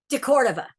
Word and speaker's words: de Cordova: Well, I want to talk about this because you mentioned Fred, was it, how's it pronounced? De Cordova? De Cordova. De Cordova.